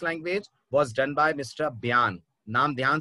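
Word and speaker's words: Bjarne: students को देखा है बजारने बजारने पढ़ते रहते हैं इसको काम ये गलती आप भी मत करिएगा लेटर जे साइलेंट है और इसको पढ़ा जाता है ब्यान स्ट्रो स्टप ये इनके नाम का प्रोनंसिएशन है एटीएनटी कंपनी में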